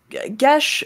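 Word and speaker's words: geas: has access to the gesh spell uh i have the spell command gesh uh which is spelled g-e-a-s is a little more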